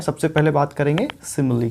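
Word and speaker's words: simile: सबसे पहले बात करेंगे सिमिली की, ठीक है। सिमिली, ये देख रहे हैं, सिमिली, स पे छोटी की मात्रा, म पे छोटी की मात्रा, यानी ह्रस्व स्वर का साउंड है यहाँ पे, ठीक है।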